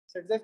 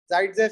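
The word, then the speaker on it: Зайцев: इसको क्या बोलते हैं, सेटजेफ की स्पेलिंग क्या है, जाइडजेफ, सेटजेफ, क्या क्या की बोलते, ऐसा भी बोलते, कुछ भी। SAIT अलग अलग बुक में अलग अलग देता, समझ गए? रशियन नेम है वो, कैसा आता कि समझ गए?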